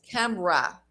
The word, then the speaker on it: Canberra: So in this case, it's Canberra, and we pronounce Canberra.